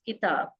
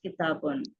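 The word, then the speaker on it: كتاب: So generally they use kitab, but actually the word is kitabun.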